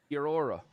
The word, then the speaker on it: Kia ora: Oh, it's like kia ora, but it's Kia ora. Kia ora. Kia ora.